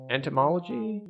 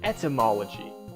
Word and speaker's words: etymology: So there is that little bit of entomology. I never know how to pronounce it. I always think I'm pronouncing it like the study of insects.